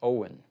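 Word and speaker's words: Eoin: comment here from Instagram first name is pronounced Owen okay e-o-i-n Caldwell Owen Caldwell thank you for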